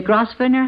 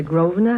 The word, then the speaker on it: Grosvenor: we say yeah uh the cross burner house shall we say it correctly and call it the Grosvenor house well I didn't stay